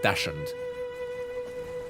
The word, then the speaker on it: Dachshund: It's spelled like Dachshund, something like that, and that's how I pronounce it in English. I tend to pronounce it as Dachshund.